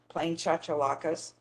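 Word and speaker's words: chachalaca: I've heard it every way, but I tell them, you know that dance, the cha-cha? We'll say cha-cha-laka.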